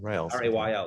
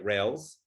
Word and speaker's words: rayl: apologize i think it's i think it's from uh rayleigh what they call rayleigh scattering rayleigh r-a-y r-a-y-l rails sorry r-a-y-l yeah right